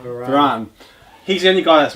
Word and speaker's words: Varane: How do you pronounce his name? Varane.